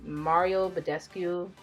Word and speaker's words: Mario Badescu: So I'm gonna take the Mario Badescu, that's how you say his name, facial spray.